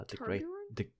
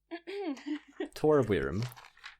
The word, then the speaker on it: Torvirm: Did you say Torbjorn? Torvirm. How do you Like spell that? Overwatch Torbjorn? No, Not Torbjorn. Torvirm.